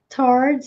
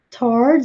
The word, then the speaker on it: towards: To direct your eyes towards someone or something so that you can see them. To direct your eyes towards ou towards. Essa palavra também tem duas pronúncias. Towards ou towards.